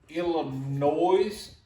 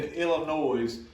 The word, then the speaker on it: Illinois: psycho Salo Saloon in Illinois uh that's the S is silent somewhere huh the s in Illinois is silent what are you talking